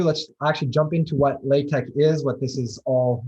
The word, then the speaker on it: LaTeX: without further ado let's actually jump into what latex is what this is all really about this is basically just like a brief history um so what latex is and you'll see this like little bit